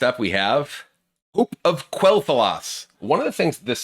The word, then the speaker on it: Quel'Thalas: I always just pronounced it Quel'Thalas. I always thought that was just not pronounced with the Q sound. It was pronounced with like a K sound, Quel'Thalas.